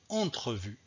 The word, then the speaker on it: entrevue: simplement parce que donc parce que ce eux est situé entre donc quatre consonnes aussi le n le thé le r levé manque pour résumer je dois dire ici mercredi vendredi entrevue donc le eu ici est prononcé alors deuxième situation le